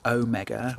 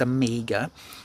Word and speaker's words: Omega: me saying Amiga, because you think it should be Omega, or something weird that you do with the G, Omega, or something like that. But guys, it's Amiga. And I'll tell you why it's pronounced Amiga, because James Bond pronounces it Amiga in Casino Royale, when you know, when